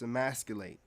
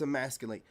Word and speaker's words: emasculate: You know, dude, it's emasculate. It's why are you trying to use words that you don't even know how to pronounce? It's emasculate.